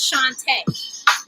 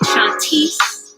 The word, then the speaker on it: Shantae: Speaking of like mispronouncing names, my name is Shantae. Rhymes with Dante. But for some reason, people still get it wrong, even if they see it written down. I've been called like Shantice, Chantel, Shantoya, everything except for Shantae.